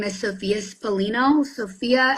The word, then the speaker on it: Spallino: my name is Sophia spalin Sophia s o p h i a and then spino like spaghetti Italian I love that and